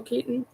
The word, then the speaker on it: Keaton: I love Michael Keaton. I just can't pronounce Keaton properly without making it sound like kitten.